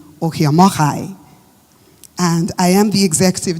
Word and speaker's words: Ohiomokhare: Um, you know, Josh tried pronouncing Oh Moari, but you know me now. I have to pronounce it right. Josh, take notes. My name is Okyomokai and I am the